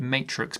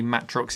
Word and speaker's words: Matrox: this the matrox millennium i used to call it matrix but apparently matrox is the proper way to say it it's got two